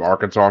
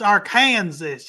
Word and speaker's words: Arkansas: think called uh isn't it killer clowns from Arkansas or something like that it's pronounced AR Kanas you idit yeah as the uh R next